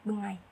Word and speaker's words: bengi: Lalu ada kayak misalnya seperti bengi, itu dalam bahasa Osing diucapkan bengai.